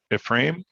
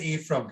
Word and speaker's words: Ephraim: i mispronounce your name is it a frame is that no i haven't got it all wrong i pronounce it eve from can you hear me ephraim okay thank you sorry